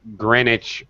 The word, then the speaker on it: Greenwich: it's yes exactly it's greenwich meantime time but they do not pronounce the w that's that's the brits